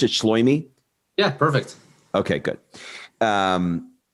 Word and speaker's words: Shloime: Is that how you pronounce it? Shloime?